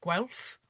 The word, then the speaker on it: Guelph: She is the director of FIDO Research Lab at the University of Guelph. Did I pronounce that right, Andrea?